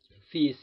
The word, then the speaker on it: fils: Seperti fils, perhatikan huruf L-nya tidak dibaca karena memang seperti ini merupakan kata-kata pengecualian.